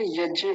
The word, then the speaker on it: यज्ञ: बड़ा ध्यान से समझिए, नहीं तो बहुत सारे आर्य समाजी यज्ञ बोलते हैं, यज्ञ, ज्ञान, ज्ञान, ज्ञान बोलते हैं, ज्ञान, ज्ञान नहीं, ज्ञान, ज्ञान, य। य का उच्चारण जब तक नहीं आएगा ना, तब तक भी गलत है।